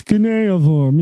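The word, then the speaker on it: cuneiform: ] in order to say right Kor it's caniform yes not uniform you you miserable little non-english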